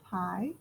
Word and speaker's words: pi: point out that hi you say it like this pi it's a number it's